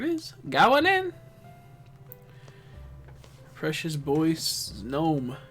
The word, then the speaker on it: Snom: going in Precious boy snom snam I keep saying it wrong snam going in here